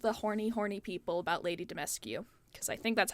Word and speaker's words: Dimitrescu: My only issue with all of the horny people about Lady Dimitrescu, because I think that's how you say her name.